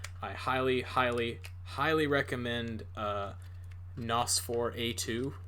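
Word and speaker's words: NOS4A2: highly, highly, highly recommend Nosfor A2. That's spelled N054A2. Like it's a license plate.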